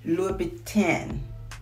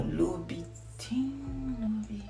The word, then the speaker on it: Louboutin: I say it right, Louboutin. Okay, or Louboutin. Yeah, because when I say it, sometimes it sounds like it's coming out Louis Vuitton, but it is the Louboutin, the red bottom.